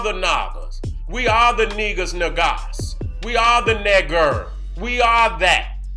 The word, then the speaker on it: Niger: It says niger, but it says it's not pronounced niger. Its pronunciation is neger. It says it's of Latin origin. It means black.